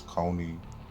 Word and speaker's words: Kony: guy's name I know it's not Cooney it's Coney and I did it